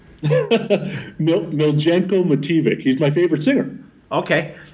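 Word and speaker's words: Miljenko Matijević: too, and I know Sonny has the correct pronunciation of the singer's name. Miljenko Mativic.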